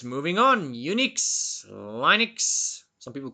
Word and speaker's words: Linux: processors then we have Linux which some people pronounce as Linux so as opposed depends on where you're from this one was originally